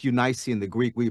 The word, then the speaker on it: Eunice: first in your grandmother Lois and your mother Eunice. It's Eunice in the Greek. We pronounce it Eunice, you know, in everyday language.